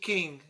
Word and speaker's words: Qing: China Sea in the Qing. Is that how you say it? Qing Dynasty, I guess. How's it spelled? I don't know. I hope I don't mess a lot of these Q-I-N-G? Chinese names up. King. Yeah, King.